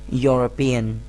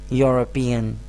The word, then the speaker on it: European: Although this word also starts from a vowel, but the initial sound is not a vowel sound, it is a consonant sound.